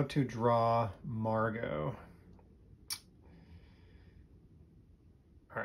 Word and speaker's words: Margot: all right that's margo some people think that her name is margaret or margot because there is a silent t at the end margo let's do a new